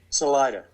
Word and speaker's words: Salida: How do you pronounce it? Salida.